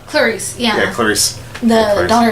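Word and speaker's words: Clarisse: How's her name pronounced? Clarice. Clarice, yeah.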